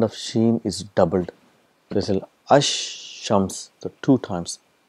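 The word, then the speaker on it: الشمس: silent and the sound of sheen is doubled ash shams the two times it's a compensation and there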